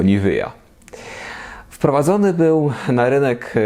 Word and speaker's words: Nivea: Najsłynniejszym produkowanym do dziś specyfikiem z tejże fabryki jest oczywiście krem Nivea, na Górnym Śląsku wymawiany oczywiście jako Nivea.